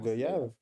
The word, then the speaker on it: goyave: Ouais, comment tu le Ah, prononces? Goyave.